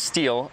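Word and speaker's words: Stihl: world we have the steel we have the steel steel is pronounced steel 462 MSC and we have the silky Katana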